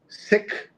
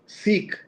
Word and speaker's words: Sikh: So the discussion has been many folks who follow the religion have asked us to say Sikh instead of Sikh. And here's what Jonathan says. I've heard of the preferred pronunciation as Sikh before, but doesn't seem to have reached critical mass yet.